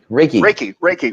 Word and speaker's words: Reiki: Is that pronounced Reiki meditation? Reiki.